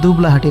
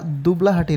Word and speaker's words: দুবলহাটি: এই যে রাজবাড়িটা দেখতে পাচ্ছেন, এটা মূলত বলা হয় দুবলাহাটি রাজবাড়ি। এখানে আমার উচ্চারণে একটা ভুল হয়েছে, সেটা হচ্ছে এটা দুবলাহাটি না, এটা হবে দুবলহাটি।